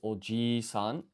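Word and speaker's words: おじいさん: Okay, so grandfather honorific is oji-san, extending the vowel sound, because otherwise you get uncle.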